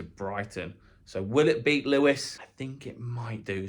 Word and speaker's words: Lewes: listed value will have from Lewis spelled l-e-w-e-s e here probably now